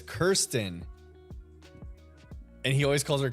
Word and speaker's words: Kirsten: Oh, it's Kirsten. And he always calls her Kristen. Kirsten. I see it now. K-I-R, not K-R-I.